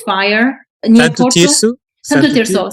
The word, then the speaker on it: Santo Tirso: But so there is a case, San Triso, near Porto. Did you hear about it? Where there was a big fire near Santo Porto? Tirso? Santo Tirso. Sorry, yeah, that's it.